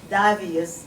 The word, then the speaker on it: Davius: Once again, Major Squatley Davius, that's the Asian pronunciation, D A V I U S.